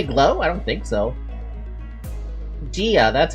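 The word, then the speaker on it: Jia: Gia, that's how I say it. I always pronounce it jaw because it's Chinese.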